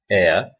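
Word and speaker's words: heir: note of this point the words our honest air begins with a vowel sound as the initial consonant heads is not pronounced it is silent there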